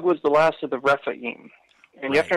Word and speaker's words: Rephaim: Well, because Og was the last of the Rephaim. And you have to Right. understand, the Rephum is the way the Canaanites would have pronounced it, at least as far as we know, were the dead and deified kings of old.